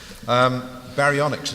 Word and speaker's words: Baryonyx: Baryonyx, as it's pronounced, which is an old dinosaur, by the